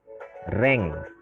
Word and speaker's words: range: Kemudian yang istilah berikutnya adalah rank. RANGE. Nah, bahasa Inggrisnya bacanya rank.